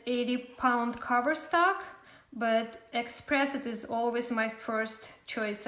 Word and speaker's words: Xpress It: choice to use this copic markers is called express it so it's spelt like this let me write it for